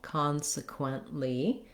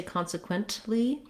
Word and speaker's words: consequently: lee syllable so again we have first syllable stress con is long has the clear vowel consequently uh or consequently and we don't really release that t so we don't say consequently that would be more typical of some other dialects